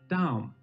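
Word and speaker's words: דם: For example, red in Hebrew looks like this, and it's pronounced Adom, while blood looks like this, and is pronounced Dam.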